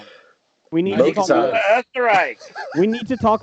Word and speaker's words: Österreich: Did you say Österreich or Österreich? Österreich. Österreich. Österreich. Asterix? Österreich. That's an umlaut.